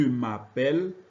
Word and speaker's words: m'appelle: M'appelle a le son est, comme dans le Noël. Vous remarquez que le son est indiqué par des accents dans le Noël, fête et scène. Dans je m'appelle, on prononce est parce que la lettre E est suivie de 2 consonnes.